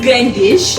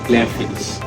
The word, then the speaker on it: Glenfiddich: I mean, is it Glendish or Glenfiddich? It's Glenfiddich.